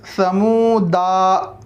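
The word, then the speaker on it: ثَمُودَا: आगे देखें, तीसरी लाइन है समूदा, दा, दाल के बाद का अलिफ साइलेंट होगा और पढ़ेंगे समूद, समूद। इसी तरह लितत लुआ, लितत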